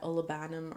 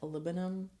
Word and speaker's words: olibanum: With that olibanum or olibanum. Olibanum? Do you guys say olibanum or olibanum? I've seen people say olibanum, but I always said olibanum, like aluminum.